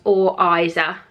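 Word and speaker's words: Oriza: box last year, and it's pronounced Or Iza, because I kept pronouncing it wrong and they tagged me on Instagram because I was doing it wrong.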